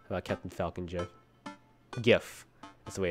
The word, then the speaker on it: GIF: How about Captain Falcon GIF? GIF. That's the way it's pronounced.